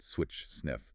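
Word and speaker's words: SWI/SNF: A famous example is swio dnf pronounced switch sniff.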